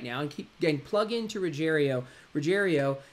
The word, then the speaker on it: Rogerio: So Rogerio spells like Roger. Think of Roger, I-O, Rogerio.